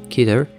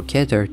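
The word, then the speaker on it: Keter: in foundation safe euclid kitter or ketter depending on how you pronounce it thumbnail and neutralized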